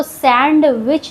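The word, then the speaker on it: sandwich: इसको सैंडविच नहीं पढ़ते हैं। डी यहां साइलेंट होता है।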